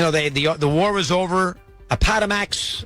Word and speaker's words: Appomattox: Appomattox, I think I pronounced it right. Appomattox, that's correct.